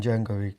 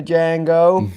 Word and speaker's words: Django: He goes, F you, the Django. When he shoots him in the balls. And he goes, a D is silent.